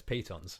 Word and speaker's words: pitons: You can put down, another word, Python or Piton? Now that I know, it's pitons. Is it Piton? Oh, I've been saying it wrong all this time.